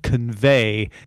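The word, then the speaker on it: Convai: So they got together with a company called Convey, except it's spelled V-A-I.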